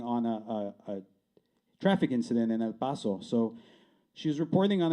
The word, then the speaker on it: El Paso: For Claudia Tristan, the Latina newscaster who pronounced it El Paso instead of El Paso.